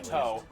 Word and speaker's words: to: Okay, yeah, it's actually pronounced toe. It's pronounced the to is pronounced toe, not to.